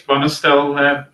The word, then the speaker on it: Bonestell: By the way, I don't know how to pronounce his name, whether it's Bonestell or Bostell, but does anyone know? I think it's Bonestell, Keith.